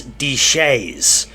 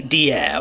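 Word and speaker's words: Deshayes: deer aka the twins I was ready to pronounce their name as D for the entirety of the video I'll say deer I promise even though I'm the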